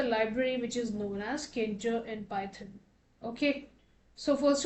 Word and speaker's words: Tkinter: which is known as Tkinter. Okay, so it's written as Tkinter, okay, wherein T is silent.